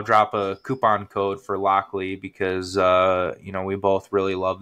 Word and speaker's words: Lochlea: I'll drop a coupon code for Lockley because, we both really love that distillery and we have some interesting things in from them.